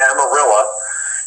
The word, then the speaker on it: Amarillo: of Amarillo, I know how to say it, Amarillo, in a small town called Dumas, D-U-M-A-S, Dumas, not dumbass.